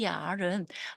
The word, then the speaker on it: 眼儿: 여기 얼이 붙어서 얼화가 되어 있는데 이때 이 얘의 애는 묵음이 되어서 발음하지 않고요. 그냥 yar이라고 이렇게 발음해야 되겠습니다. 여기에서 초안은 구멍을 뚫다라는 뜻을 나타내고 있는데요. 타샹 초안 얼도 yar은 말 그대로 보면 그녀는